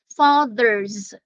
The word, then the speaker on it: fathers: Fathers. Yeah, the TH there is hard and the S there is pronounced as Z.